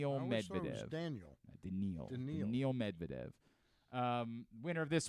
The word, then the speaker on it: Daniil: Carlos Alcaraz and Daniil Medvedev, pair of U.S.